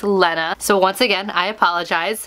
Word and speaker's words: Lena: this was pronounced but this is actually pronounced Lenna so once again I